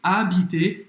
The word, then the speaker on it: habiter: Habiter, o H é mudo, habiter, ER no final, tem o som do E, como sempre. Por exemplo, j'habite à Rio.